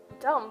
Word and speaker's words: dumb: B must not be heard in doubt. Debt and dumb, but leave it out.